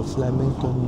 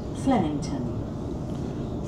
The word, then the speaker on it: Flemington: This train will stop at Flemington. Flemington. Mm. It rhymes with Remington.